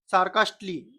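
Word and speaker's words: sarcastically: सार्कास्टली यानी व्यंगात्मक रूप से। देखो डबल एल वाई से पहले हमेशा ए साइलेंट होता है।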